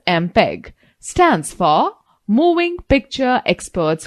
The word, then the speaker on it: MPEG: Students, note the fact MPEG, pronounced as MPEG, stands for Moving Picture Experts Group.